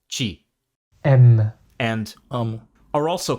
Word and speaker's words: te: In Brazilian Portuguese, it's pronounced chi.